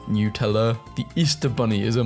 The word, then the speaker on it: Nutella: on Facebook and spaz Nutella it's actually pronounced new tell the Easter bunny is